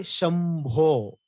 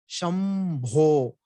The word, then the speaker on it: Shambho: We say Shambho. Why it is still Why it is not Shan? Because after Sha admele ide. For that for that bindu, what is the next letter? Bha. Shambho. Bha. Where is Bha? Here. Ba is here. Oshtya. You can see the labial consonant Ba.